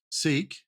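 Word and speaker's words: Sikh: the religion at all sik heard it's pronounced sick yep I've heard of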